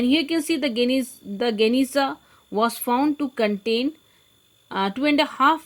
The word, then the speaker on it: Geniza: Geniza, pronounced here you can see Geniza of the Ben Ezra synagogue.